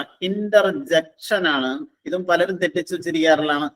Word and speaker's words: interjection: സിയുടെ മുകളിൽ ഒരു വരയിട്ടേക്കുന്നുണ്ട്, അവിടെ നമ്മൾ സ്ട്രെസ് ചെയ്യണം. ഇന്റർജെക്ഷൻ.